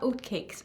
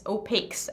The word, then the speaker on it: Opakes: know for some reason the way that it's spelled i keep thinking oat cakes but it's not oat cakes it's opaques as in like they're opaque and i will say